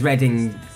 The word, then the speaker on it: Reading: Because Reading, it's pronounced Reading, but it's written Read-ing.